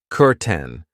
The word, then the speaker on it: curtain: I know it looks like curtain but we pronounce it curten.